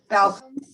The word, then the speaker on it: Baucum: I thought there was an L in there. No. How do you say it? Balcom. Balcom? Balcom. Barbara Balcom. Is that spelled correctly? Baucum? No L? There's no. There's no L. There's no L, but it sounds like, yeah, Barbara Balcom.